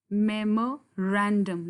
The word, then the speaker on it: memorandum: So it is memorandum. Look at the stress where it falls. It falls here on this syllable, ran.